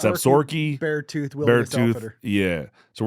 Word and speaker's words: Absaroka: It's Absaroka is how it's spelled, but it's Absaroka.